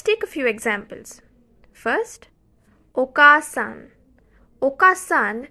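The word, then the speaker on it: おかあさん: First, oka-san. Oka-san, the additional a sound is added after ka to emphasize oka-san.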